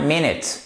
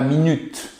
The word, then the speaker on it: minute: Et on prononce bien minute et pas minute. Pourquoi? Puisque nous avons un apostrophe ici qui nous indique que l'accent tonique est sur la première syllabe.